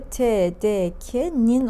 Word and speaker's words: TDK'nin: Arkadaşlar özellikle TDK diye okudum. Çünkü öyle okumamız gerekiyor. Türkçe'de ünsüzlerin yanına A kesinlikle getirilmez. Bunun okunuşu K. Yani şöyle yazayım anlamamız için. K diye okuduğumuzda getirilen çekim ekini de okunuşa göre getirdiğimize göre TDK'nin olması gerekiyordu. Tam doğrusunu yazayım.